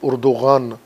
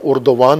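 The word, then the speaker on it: Erdoğan: کو اردوان کہتے ہیں، ترکی میں اور فارسی میں ان کو اردوغان کہتے ہیں، جس طرح فرانسیسی صدر کو میکغوں یہاں کہتے ہیں، اور ویسے وہ اپنے ہاں میکخاں کہلایا جاتا ہے۔ یہ تلفظ کا ایک فرق ہے، چونکہ یہاں اردوان ہی کے نام سے ان کی شہرت ہے، تو میں بھی اردوان ہی کہوں گا، ہرچند ان کے اپنے ملک میں وہ اردوغان ہیں ترکی تلفظ کے مطابق۔ ان کی سیاست کا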